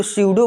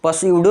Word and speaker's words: pseudo: लिखा हुआ है स्यूडो, इसको स्यूडो बोलेंगे। स्यूडो पी से स्टार्ट है, तो पस्यूडो नहीं बोलिएगा, गलत हो जाएगा। आपको स्यूडो बोलना है, पी साइलेंट रहेगा इसमें।